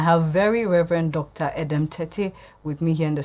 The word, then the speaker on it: Tettey: adam tate with me i i i've been told i've been mispronouncing their names so it's tete but before we went